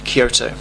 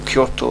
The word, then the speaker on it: Kyoto: trip then we've got kyoto or kyoto as it's properly pronounced i'm really excited about